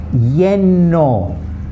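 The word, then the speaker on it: lleno: Yeno, like Y-E-N-O is pronounced.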